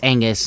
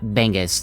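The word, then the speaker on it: B'Angus: And yes, it's Angus, not Bangus. The the bee is silent.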